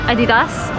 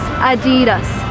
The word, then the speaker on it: Adidas: You probably called it Adidas or something else, but the correct way to pronounce it in American is Adidas.